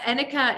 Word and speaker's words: Annika: Now, it's Annika. Is that the right pronunciation?